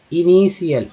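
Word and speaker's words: initial: इनिसलिंग, इनिशियल, इनिशियल, टी आई एल को सी एल बोलती है, तो मैंने शुरू में बताया था आपको सी एल एस लग गया।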